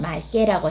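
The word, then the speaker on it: 맑게: 자, 리을 기억이라는 말에요. 뒤에 기억이 왔죠. 그러면 이 리을 기억은 아까 기억이 오면 뭘로 발음이 된다고 그랬습니까? 네, 리을로 발음이 되니까 맞게가 아니라 뭐라고 해야 될까요? 말게라고 해야 되겠죠.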